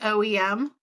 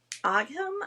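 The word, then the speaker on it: ogham: OEM. No, it's actually it's o g h a m. So English can pronounce it aim I think. But when I was over there they said ow when we went to the jewelry store.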